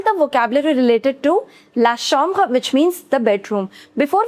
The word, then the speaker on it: chambre: We say la chambre. La chambre. The pronunciation of CH in French is always sh. It's la chambre, right?